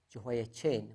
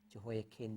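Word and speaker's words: Jehoiachin: kings and we have Jehoa Chin, we normally say Jehoa Chin, but his pronunciation is actually kin. Jehoa kin. The ch is actually a bit tricky in the Hebrew.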